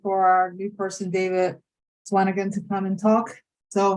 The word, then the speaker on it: Swanagon: Did I pronounce that correctly? Swanagon?